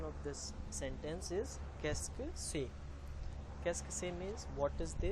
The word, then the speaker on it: qu'est-ce que c'est: The pronunciation of this sentence is qu'est-ce que c'est.